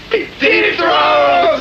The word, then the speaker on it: Zoetrope: One other thing I wanted to ask you was, how do you pronounce the name of the band? ZOETROPE!